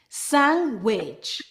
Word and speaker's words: sandwich: Sometimes when we have N and D together, we remove the D. For example, handkerchief, handsome, sandwich.